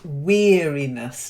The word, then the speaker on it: weariness: that pull it anyway the first word is weariness not like wearing earrings weary weariness that's it okay then